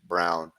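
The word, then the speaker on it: Braun: what the Von Brown it's brown it means Brown I think they even pronounce it brown see that they still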